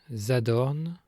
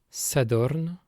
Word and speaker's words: sadorn: En bas vantais, dans la majorité des mots, le S initial de l'orthographe unifiée devant voyelle se prononce Z, même quand il n'y a aucun mot devant. Exemple, Zout, des vaches, Zadorn, samedi, Zuhun, semaine, Zir, sec, Zikour, aider, Zonnagne, sonner.